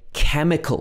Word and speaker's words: chemical: Also in chemical, we don't say chemical, it's chemical, not like in a lot of other languages, so you could get confused here.